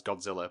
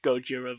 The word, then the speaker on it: Gojira: the film though well Gojira is the original Japanese name yeah and then Harish Shera mispronounces that as Godzilla but the actual name